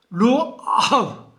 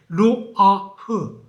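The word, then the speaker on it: רוח: 이 퓨누마는 또 히브리어는 루아 발음이 잘 안 되네요. 루아흐.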